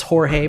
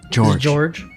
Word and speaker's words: Jorge: for you guys today my name is jorge probably not how you just pronounced it oh george and i am a one